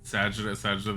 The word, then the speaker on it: Sagitta: They pronounce it Sagitta though.